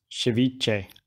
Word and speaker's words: ceviche: into strips this way my colombian co-worker was very grumpy in me calling it ceviche to be pronounced ceviche thanks rodrigo and we'll chuck that